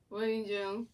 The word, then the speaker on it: Rangel: Yeah, Rangel.